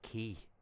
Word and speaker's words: quay: And it's like it's pronounced key.